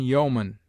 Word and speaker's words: yeoman: EO is found in yeoman, where it is sounded as o short, and in people, where it is pronounced like ee.